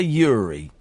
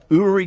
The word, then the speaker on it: Uri: and here's the thing his name is pronounced URI urri we all want to say Yuri but it's pronounced URI TV psychic urri gella's new Museum will